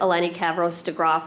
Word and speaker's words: Eleni Kavros-DeGraw: I want to thank State Representative Eleni Kavros-DeGraw for being here, for making the trek to New Britain to join us.